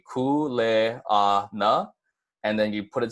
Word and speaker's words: kuleana: have cool a aa once more just so that you get it down it's gonna be cool eh ah nah and then you put